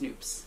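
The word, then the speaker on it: nupp: supposed to say noobs apparently really they're estonian and in estonian they are pronounced noops all right but most everyone in the us anyway says nups yeah and that's it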